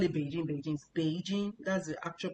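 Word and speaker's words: 北京: Beijing, that's the actual pronunciation. Beijing is a third third tone, first tone. Beijing. So, it's a third tone for Bei, then jing means first tone.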